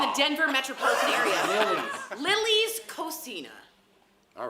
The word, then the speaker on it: cocina: Cucina? Cocina. Sophia taught us how to say it. It's not Cocina, that's Italian. Yeah. Cocina is Spanish.